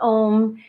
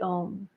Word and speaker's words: Om: you're learning the um there are three sounds to the ohm almost like a u m and you may have seen it spelled like that each sound should be